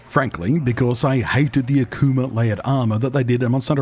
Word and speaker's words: Akuma: It's Street Fighter 6, and specifically Akuma. Or perhaps, I've heard some people pronounce it Akuma, which just hits my ears really weird. It's Akuma, right? Not Akuma.